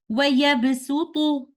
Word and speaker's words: وَيَبْسُطُ: So in these ayat, Suratul Baqarah or Suratul Araf, we must pronounce letter Sin instead of letter Sad in the recitation of Hafs and Aasim tariqatu Shatibiya. So we will recite these words like this. وَيَبْسُطُ or بَسْطُهُ.